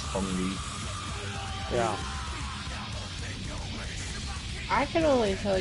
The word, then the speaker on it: Feng Wei: Ah, Fengway, if it wasn't for this cutscene, I'd forget you exist in the whole franchise. Man, do you know it's actually pronounced Feng Wei?